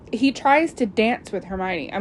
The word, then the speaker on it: Hermione: And so Hermione's basically teaching Crumb how to say her name. Hermione. He calls her Hermione.